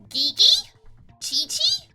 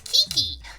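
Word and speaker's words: Qiqi: Qi so you're like gei chii no it's Kiki it's a key sound and then uh in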